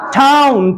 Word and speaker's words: town: तो जब इसको मिसप्रोनाउंस करते हैं तो ये लगता है डाउन।